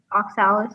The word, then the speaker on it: oxalis: pink or purple flowers with tin stamens oxalis oxalis am i saying that right you are oxalics